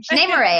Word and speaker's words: Shanae Moray: Shanae Moray. Actually, that is how you say her name.